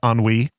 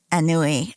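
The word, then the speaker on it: ennui: and the question is all the different ways we probably pronounced it as kids I remember being corrected on it so it made a really big impression on me by my friend's dad cuz we thought it was an anui I think and this sounds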